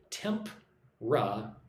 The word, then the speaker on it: temperature: Temp-ra-ture, right? When I say it, it has 3 syllables. Temperature, right? I do not say temperature.